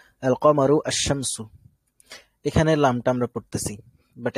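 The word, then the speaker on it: الشمس: আসার পরও যদি আসে, তবে আমরা লামটা উচ্চারণ করব না, আমরা ডিরেক্ট তাকে তাসদিদ দিয়ে ধরে ফেলবো, যেমন হচ্ছে আশ-শামসু, তাই না?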